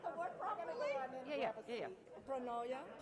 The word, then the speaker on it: pronoia: I want to make sure I pronounce the word properly. Yeah. Pronoia, Pronoia.